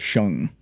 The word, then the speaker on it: Shang: Isn't it Shank? Well, they pronounce it Shung because it's Okay, like but it has an A in it.